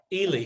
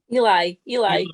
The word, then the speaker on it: Eli: I mean, didn't Ely, sorry, I've been saying your name wrong. It's Ely. Eli.